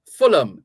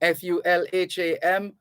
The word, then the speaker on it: Fulham: b-i-r-m-i-n-g-h-a-m is birmingham birmingham fulham f-u-l-h-a-m fulham so the h's are silent or the h is